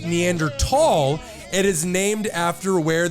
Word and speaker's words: Neanderthal: The region's word for valley at the time was Tal, T-H-A-L.